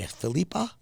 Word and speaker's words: Philippa: Philippa spelled like Phillip with an A. Filipa.